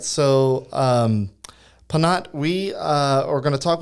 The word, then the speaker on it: Phanat: The H is silent.